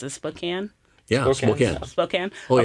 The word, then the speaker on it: Spokane: a church, and I don't know how to pronounce it. Spokane.